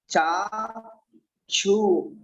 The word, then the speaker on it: चक्षु: जनस्य जनस्य चक्षु चाक्षु, इसमें जो बना हुआ है छु क्षत्रिय वाला छा, तो छा इस तरीके का होता है। अपना छा को लिए उच्चारण करने के लिए का और प्लस सा, ये दोनों शब्द बनकर छा बनते हैं। छा क्षत्रिय का छा, और इसको ऐसे उच्चारण करेंगे चक्षु चक्षु।